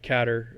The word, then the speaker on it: Qatar: Then Qatar or Kater I think is how they say it the 30th of November